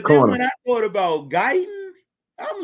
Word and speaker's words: Guyton: Tyler Guyton. I couldn't pronounce. I thought it was good, but yes, Guyton.